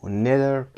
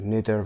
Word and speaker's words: neither: در Unit 11 Part C در قسمت Grammar so, neither plus auxiliaries رو کار خواهیم کرد. neither و یا neither تلفظ میشه.